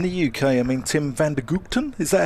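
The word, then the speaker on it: van der Gugten: Well, if I go really Dutch, it's the Guchten, the Tim van der Guchten, which probably doesn't sound great if people are listening, so I apologise for that.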